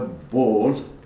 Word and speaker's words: Ball: Don't say ball in English, ball, but in German it's Ball.